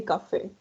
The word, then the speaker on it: café: Yes, here we're going to say café, como en español.